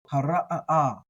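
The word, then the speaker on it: הָרָעָה: these, you know that I treat the ayin kind of like a guttural stop, like the okina in Hawaiian, right? So that so hara'a. You kind of get like a little bit of a stutter in there on this one.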